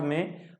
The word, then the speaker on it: mho: इसको ohm inverse, और इसको हम लोग शॉर्ट में महो भी कहते हैं, यानी कि इसका सिंबल शॉर्ट में क्या हो गया, मो, और स्पेलिंग है MHO।